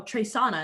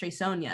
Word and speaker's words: Treysonia: pronounce that uh and i say oh trey sauna and they're like oh just cuz it has the i so i would think it's pronounced treysonia and then they just call me treysonia for the rest of the day and it's like but i told you how to say it i told you how